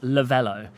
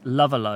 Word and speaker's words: Lavello: lot of people i it needs an accent on the e in order to become lavella it does it does you do need to add because actually said in english it's lavalo or love low um so i do